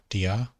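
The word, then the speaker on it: διά: a grave accent and you just need to put stress on the alpha at the end so delta iota alpha dia or dia thalematos and here we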